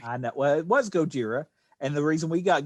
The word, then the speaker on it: Gojira: say it correctly i know well it was gojira and the reason we got godzilla was poor